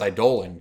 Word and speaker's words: Eidolon: You know it's pronounced Eidolon, correct?